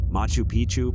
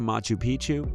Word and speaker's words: Machu Picchu: Machu Picchu, Peru. When a place rhymes with picture, you can almost bet it will always give breathtaking images every time.